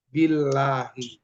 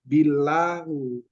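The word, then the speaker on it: بِاللهِ: Iya, jadi bacanya menjadi billahi. Nggak bisa dibaca billahu.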